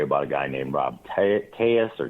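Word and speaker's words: Telles: a guy named Rob Tejas or Tellis. So he has 2 pronunciations of that name, but I think it's Tejas is the one that he uses most often.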